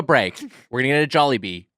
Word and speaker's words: Jollibee: I really wanna how talk do you about pronounce Jollibee. Jollibee or Jollibee. Jollibee? I say Jollibee.